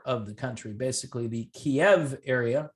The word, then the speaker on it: Kiev: the country basically the kiev area i like to say kiev and not kiev i can't stand people who say keeve i don't know why